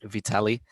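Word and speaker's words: Vitalij: it that's all right the j is silent in the end just vitaly but it doesn't really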